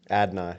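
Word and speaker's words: Adonai: Adnai.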